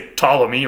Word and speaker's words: Ptolemy: They actually pronounced that P and that T together, whereas in modern English, when we try to say Ptolemy, like I just did, we usually just leave the P off altogether because we don't like